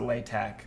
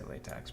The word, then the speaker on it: LaTeX: to uh mark down some people pronounce it latac but I say latx bro I don't give